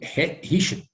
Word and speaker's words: hitched: Hitched Yes, pronounce into like the, there is a T here. He Richard. hitched. Yes. Hitched Yes. into the water. Oscar, just, Oh. I'm sorry to interrupt. The CH in English is always pronounced with the T in front. Like we say Hitched. chair, okay? We say teacher, okay? We say beach, beach. There is always this T.